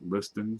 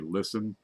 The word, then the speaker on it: Liston: a little nitrate Liston I pronounce it Liston some people say listen but I don't listen